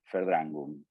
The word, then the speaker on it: Verdrängung: Y les escribo el nombre que tiene la represión, Verdrängung, ¿sí? ¿Se acuerdan que ya habíamos arrancado nuestro curso de alemán, que era la B corta, se pronuncia como F, Verdrängung, ¿sí?